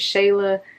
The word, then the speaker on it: Shayla: here hey what's up my name is shayla that's how you pronounce it shayla so i'm mad